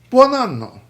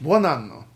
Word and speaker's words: buon anno: Italian, buon anno. Good year. Buon anno. Buon anno. Make sure. One syllable, buon, two, anno. Buon anno.